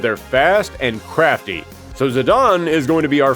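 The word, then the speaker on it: Zidane: Now, first up, the protagonist of the game, Zidon. Yes, I always said Zedane as well, but apparently it's pronounced Zidon.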